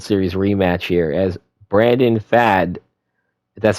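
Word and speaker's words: Pfaadt: seeing a World Series rematch here as Brandon fad that's how you pronounce his name he'll be going on the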